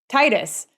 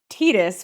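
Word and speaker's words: Tidus: in the United States would say yeah Titus but then later they came out and said that it was tetus which is awkward sounding in English and we had all been saying it wrong but nobody ever says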